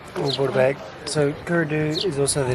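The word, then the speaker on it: Caora Dhubh: And the D, the B at the end is silent, but can also be pronounced as a V or VH sound. So, in this particular case, Curdu.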